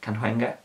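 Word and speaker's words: Cahuenga: store named sid canewenga can hunger and that's how you say it um kanhunga's one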